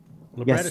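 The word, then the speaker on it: librettist: The labretist. Lretist. How's that pronounced? The the writer. Libertist.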